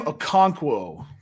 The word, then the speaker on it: Okonkwo: Chigoziem Okonkwo.